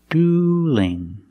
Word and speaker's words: dueling: dueling now what changed now the L in dueling is between vowels so we have to change that L to a light l so it's not dueling it's dueling dueling they're dueling somebody's going